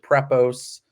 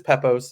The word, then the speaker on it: Pepose: But yeah, I've heard all sorts of creative pronunciations. I've heard Prepose. I've heard Piopose. Somebody called me recently. that was actually, I think, a refreshing change of pace. So but it's Pepose in case anybody's listening and wants to use it.